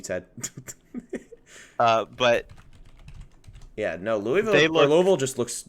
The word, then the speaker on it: Louisville: like no I'm sorry my dad my dad will kill me if I say it wrong so it's Louisville I'm sorry little sucks